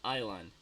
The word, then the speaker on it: island: Aquí en esta palabra la S no se pronuncia. Island.